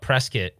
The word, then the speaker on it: Prescott: place up north, and it's called Prescott, although it's spelled Prescott.